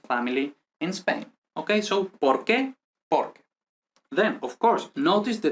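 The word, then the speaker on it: por qué: because here we say por que por que so this doesn't have any accent i mean like any um pronunciation intonation accent no the accent goes here in the next word okay so there's those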